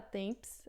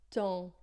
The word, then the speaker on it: temps: Então, numa palavra como essa, por exemplo, a gente não fala temps, a gente fala ton, né? Ton. Esse EM vai ficar en e o P final, o S final, a gente não pronuncia.